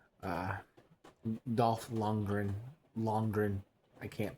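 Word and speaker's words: Lundgren: Oh, and um there was also a cameo from Dolph Longreen. Uh Dolph Longren Longren. I can't pronounce his last name. I can sometimes, sometimes I can't, but Dolph Longren.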